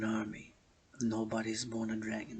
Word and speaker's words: Dragan: Nobody is born a dragon, not even myself. The surname, the h.a.dragan, pronounced dragon.